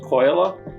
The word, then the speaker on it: Kojola: My name is Kojola, also pronounced Kojola. It's a Finnish pronunciation.